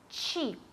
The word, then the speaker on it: cheap: Cheap. No recordéis, el primer sonido es ch y la p del final, p, ¿vale? Tiene que salir aire.